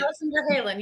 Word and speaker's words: Alison Ver Halen: Alison Ver Halen. How are you? Oh, sorry for pronouncing your name. Yeah, no, Yeah, for it's me. Alison Ver Halen.